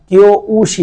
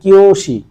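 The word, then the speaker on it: 教師: একটু টেনে পড়তে হবে তাহলে এখানে আপনার কিও উশি না এটা হবে কিওশি হ্যা কিওর পরে একটু টান দিয়ে বলবেন তারপরেশি কথাটা ব্যবহার করবেন কিওশি কিওশি মানে হচ্ছে শিক্ষক বা প্রশিক্ষক।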